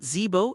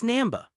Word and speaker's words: Namba: Namba said, "Professor Zebo." Then Ash followed the directions given to him by the trio and headed for Team Rocket's underwater base. It's not Zebo, it's Namba.